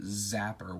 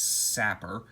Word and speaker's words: sapper: I always pronounce it zapper when it's sapper. And then his butterfly knife and an extra hand to hold the sapper, not zapper.